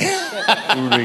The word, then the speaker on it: Uri: Uri is the right pronunciation. Always call the devil by his right name. Uri.